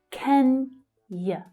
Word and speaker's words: Kenya: So that stress is on the first syllable. Kenya.